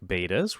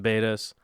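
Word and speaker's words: betta: bred a ton of betas in my day. I love beta fish. I love saying it wrong, and then the internet getting super mad and going, it's not beta, it's beta.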